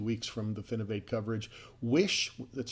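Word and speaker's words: Wysh: Wish, that's spelled W-Y-S-H, we interviewed them last week on the show.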